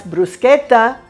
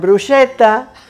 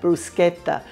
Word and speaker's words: bruschetta: That's bruschetta, not bruschetta, because the CH in Italian is pronounced like that, bruschetta.